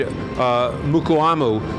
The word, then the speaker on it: Mukuamu: Mukuamu.